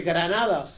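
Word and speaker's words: Grenada: los habitantes de la isla de granada que hay que pronunciar la en inglés y canadá porque ellos hablan inglés y una mini minúscula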